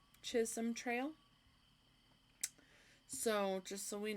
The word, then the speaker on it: Chisholm: Abeleen Kansas so apparently the way this is pronounced is not chisom it's chishom Chisholm Trail so just so we know I'll probably